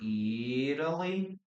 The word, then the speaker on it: Italy: Have you ever visited Italy or Italy? Yeah, in American English, we usually change the pronunciation of the letter T or the letter D.